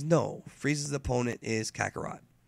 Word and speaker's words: Kakarot: no frieza's opponent is kakarat or kakaroto this is the right way to say it so then they start